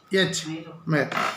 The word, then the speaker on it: myrrh: उसका स्पेलिंग क्या है? MYRRH, मेर।